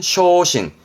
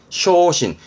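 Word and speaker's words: 焦心: 중요 중요한 부분이요 그래서 이거 뭘까요 그렇지 초심이네 발음은 쇼신 쇼신 초심이 뭐게요 아니 아니 아니에 초심으로 돌아간다 가장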